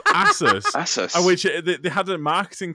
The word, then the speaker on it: Asus: mean also it's not asus what what by the way this is going super nerdy it's asses it's pronounced asses which they had a marketing campaign because it's supposed to be pegasus so it's asus which